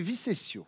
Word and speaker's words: Visegno: Alors, vous l'avez mal prononcé, Pascal, si je puis me permettre, c'est Visegno. Visegno.